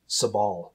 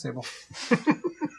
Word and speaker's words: Sable: I believe it's pronounced Sabal. Nope, it's sable.